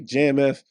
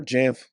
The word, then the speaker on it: JAMF: If you're going to use JAMF, you probably use OU, say JAMF or JAMF, depending on who you ask is how they pronounce it.